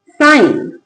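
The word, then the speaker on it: sign: एफ आई जी एन। जी का sound नहीं आएगा। जी के बाद एन, जी के बाद एन और जी के बाद एन आ रहा है। क्या लिखेंगे? साइन क्या लिखा साइन नेक्स्ट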